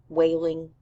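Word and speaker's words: Wehling: K whaling Jr so whaling his last name is pronounced like crying so we discover that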